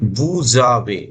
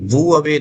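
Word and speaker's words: vous avez: Then बूजावे, बू अवे नहीं, बूजावे linking हो जाती है तो इसको एस को ज बोलते हैं यहाँ पर।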